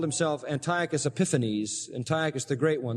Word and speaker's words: Antiochus Epiphanes: been saying it wrong Antiochus epiphany okay Antiochus Antiochus they say it the last part different Antiochus epiphane epiphanes Antiochus epiphanes wow Antiochus epiphanes Antiochus epiphanes